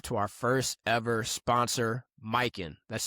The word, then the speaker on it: Mykyn: We want to show some love to our first ever sponsor, Mykin. That's spelled Mykyn.